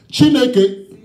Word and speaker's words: Chineke: Chineke.